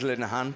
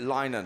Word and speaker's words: Linehan: uh race five and it is lunahan because uh i pronounced it linen i think at the last bus and then i